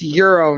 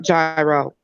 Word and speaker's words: gyro: would bash me Laura the G is silent it's euro not gyro is gyro no it's